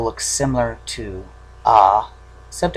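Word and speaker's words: あ: English letter A but it's pronounced ah not a there is a way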